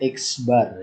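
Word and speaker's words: x̄: Rata-rata hitung atau min dengan simbol, nah ini ya, dibacanya X bar ya, X bar ya.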